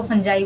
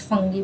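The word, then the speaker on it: fungi: इनको फंजाई बोलते हैं। क्या बोलते हैं, फंजाई। कुछ फंगी भी बोल देते हैं, फंगी बोलो या फंजाई बोलो, जो आपकी प्रोनाउंसिएशन हो, ठीक है।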